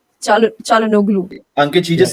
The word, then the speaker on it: Çalhanoğlu: नहीं, Çalhanoğlu. I don't. How do you pronounce that name? Çalhanoğlu. Çalhanoğlu.